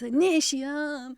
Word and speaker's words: Initium: way is it initi think think Robbie Williams millenniums so imagine Robbie singing Millennium then go initium it's initium so that's how that's